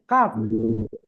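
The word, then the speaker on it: ق: তারপরে দেখেন কি আছে কাফ কি আছে কাফ দেখেন জিহ্বার গোড়া হাতে একটু আগে বাড়িয়ে তার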